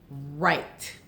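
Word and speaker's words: write: I'm going to cross out the W. R-I-T-E. Silent E. Long I. What's the word? We do it every day. Yes. Right.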